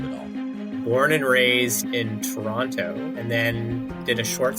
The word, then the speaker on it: Toronto: capital of Ottawa and you were the only person I've ever known from Toronto to pronounce that second T I know almost everyone I know always says Toronto I know Toronto and that's in fact the right way to pronounce it and I get a